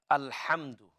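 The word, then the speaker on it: الحمد: to focus on uh al hamdu focus on this ha inshallah so alhamdulillah comes here comes there so focus on ha ha is pronounced from the middle of the throat so it's not al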